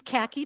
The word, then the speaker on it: Khaki: Uh, my name's Khaki, pronounced like the color, last name is, and I'm in the Twin Cities.